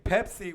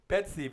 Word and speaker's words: Pepsi: family all our lives instead of saying pepsy with a p p they say pet c p t like pet like pet go or whatever a pet in general petsy because you know sometimes us Hispanics cannot pronounce the English letters as well or I would hear them say pexi like PE with an X oh yeah that's right